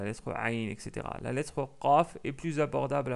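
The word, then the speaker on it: قاف: La lettre Qaf est plus abordable à prononcer. Pourquoi? Je vais vous dire. Euh, il faut savoir que la première chose, que la lettre Kef et la lettre Qaf, ils ont le même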